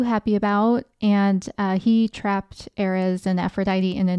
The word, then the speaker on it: Ares: As I mentioned, Mars is the Roman name for this god, and the Greek name was Ares. Ares is how it's spelled. Very close to Aries, but I think pronounced a little differently.